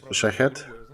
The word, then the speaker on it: Shahed: She came to a conclusion that these drones basically they're called Shahed, very similar to the pronunciation of Shahid's belt.